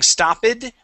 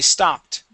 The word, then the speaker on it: stopped: stopped stop it okay so instead of saying stoed we say stopped stopped good okay uh let's let's practice the